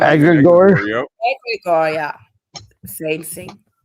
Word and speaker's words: egregore: How is it pronounced? Egregore.